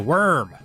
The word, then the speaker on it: Wurm: this particular vzr is known as the worm spelled with a u for some reason as